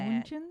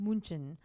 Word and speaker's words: München: Is that how you pronounce it? That's how you say München? it. München.